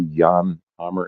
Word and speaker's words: Jan Hammer: people who don't know who yam armor is it looks like Jan Hammer when you when it's spelled out so if you want